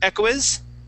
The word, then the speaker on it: echoes: You would pronounce it echoes, right? Echoes. So the O-E here at the end only makes an O sound.